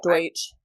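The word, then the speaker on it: Deutch: Deutsch.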